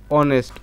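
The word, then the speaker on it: honest: যেহেতু আমাদের এই এইচ এর উচ্চারণটা এই এইচ এর উচ্চারণটা কি হইছে? অনেস্ট অ হইছে।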